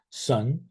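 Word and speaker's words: 선: character for Zen or as it's pronounced in uh Korean Sun uh and it's made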